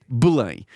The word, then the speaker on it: Belém: partie de la ville, Belém, qu'on prononce en portugais Belém.